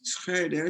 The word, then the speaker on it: Schroeder: I said Schroeder, but is Schrader the way you pronounce that? I said Sarah? Schroeder for the longest time, and then someone corrected me that, I mean, the proper German pronunciation is Schroeder.